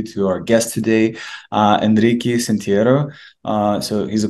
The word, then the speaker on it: Henrique: in promising startups and companies at crypto space Enrique really happy to have you here Constantine thank